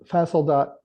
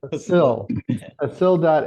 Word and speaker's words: facil.ai: So what um Keith and Danielle and Kimone just said is uh fasili I'm always saying it wrong like facility yeah facil.ai AI is getting the